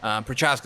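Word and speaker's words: Procházka: Prochaska? Yeah, Prochaska.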